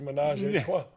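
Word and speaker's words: ménage à trois: believe it's pronounced menage a trois.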